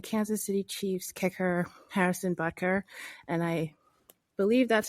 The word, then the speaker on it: Butker: about was the Kansas City Chief's kicker Harrison buer and I believe that's how you pronounce his name I looked it up it is buter that's not me making jokes uh he gave